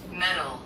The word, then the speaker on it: metal: metal met met metal met 여기 영국이에요. 혹시 이런 거 들어 보셨나? 헤비 메탈. 예. 예. 헤비 메탈. 네. 예. 메탈. 금속. 그래서 어떻게 연상하냐면 정확한 발음은 매틀하고 연상은 금메달 은메달.